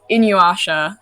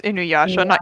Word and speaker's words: Inuyasha: love with uh is inuasha i know it's cheat okay the first pronounce it right it's inuyasha have you watched the